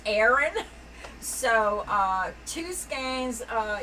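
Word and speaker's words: Aran: And I know I've been pronouncing it wrong. I don't know why I say Iran. It's Aaron.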